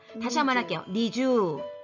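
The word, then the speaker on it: 二十: 겠니 주 니 주어 이거 발음할 때 주의사항은 요 이라는 것은 이 두 박자 아니라 1박 달리기 때문에 다르마 데도 미주가 아니라 미주 한다는 겁니다 다시 한번 할게요 니쥬 음 잘 했습니다 22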